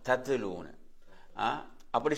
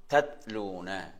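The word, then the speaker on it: تتلون: சிலவங்க தத்துலூனுவாங்க. தத்துலூனு அப்படி சொல்றதல்ல, தத்துலூன்னு சொல்றதல்ல. இதுல இந்த இதுல அந்த சுக்குன்ல அப்படி நின்று சொல்ல தத்லூன. எப்படி? தத்லூன என்று சொல்ல வேண்டும்.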